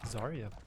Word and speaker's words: Zarya: other team is playing Azaria is that how you pronounce her name zarya correct I probably were uh